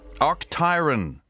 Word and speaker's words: Octiron: can't see you ask me why I'm screaming OCT tyon that's how you say it but uh how